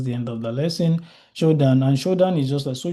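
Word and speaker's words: Shodan: Showdown and showdown is just so shodd is spelled s h o d a n you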